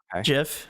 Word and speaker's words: GIF: just a gif of chokzone love it again jiff it's jiff the way you pronounce things is just oh man how does